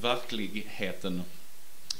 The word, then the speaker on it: Verkligheten: I would pronounce it Verkligheten.